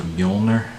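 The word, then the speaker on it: Mjölnir: Norse symbol of Thor um and Norse it's pronounced a mjolnir see instinctively just drop the needle because it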